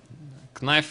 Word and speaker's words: knife: Knife round. Как-то я не по-английски сказал. Knife round. Да, конечно же. Буковка K не читается.